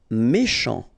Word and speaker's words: méchant: Méchant. final T not pronounced, then CH, ch, chant, méchant.